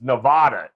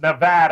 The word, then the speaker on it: Nevada: is yes he he will absolutely continue to pronounce it wrong as do a lot of other people it's nevada isn't it no it's nevada i know ralph michaels beat that into me